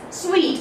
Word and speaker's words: suite: Okay, generally we say that book a hotel suite for me. So that is a set of empty rooms. Okay, so this is known as suite and not suit or whatever pronunciations you have. It is suite.